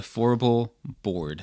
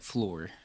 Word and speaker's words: Fourble: And then Well, for years I've been calling it floor.